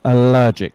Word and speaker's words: allergic: So it's allergic. It's a syllable to stress.